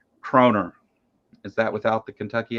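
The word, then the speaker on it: kroner: and so they uh croner is pronounced the way you pronounced it the first time around minus the Kentucky accent it means crowns in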